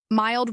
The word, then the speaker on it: mild: Mild rhymes with child and the stress in infection is on fact.